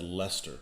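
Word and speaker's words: Leicester: in english language the the most difficult one is the one that's called the spell that said lester but it's spelled lyster i can't stand that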